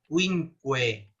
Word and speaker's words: quinque: han olvidado cómo pronunciar quinque. No Quinque. Quinque. Quinque. En italiano es cinque.